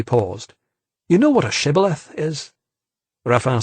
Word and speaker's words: shibboleth: off as a friend, the Gileadites would make him pronounce the word shibboleth. It actually meant flooding stream, but in the Ephraimite dialect, initial sh sounds were always pronounced s, so the Ephraimite would say sibboleth and give himself away.